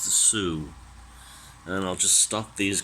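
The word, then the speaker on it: Sault: It's called the Soo line because one of the cities it serves is spelled S-A-U-L-T, but it's French, so it's pronounced Soo.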